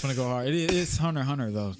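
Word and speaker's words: Hunter × Hunter: It is Hunter x Hunter though. You don't pronounce the X.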